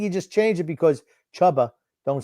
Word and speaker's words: Chuba: it is spelled chubba it was like c-h-u-b-a then you could say maybe tuber but that the two b's makes that a soft u sound so it is chubba okay well i'll just